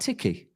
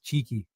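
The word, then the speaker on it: Cherki: And is the second one not Tiki? No. So when you hear Pep say it, he says cheeky. Cheeky.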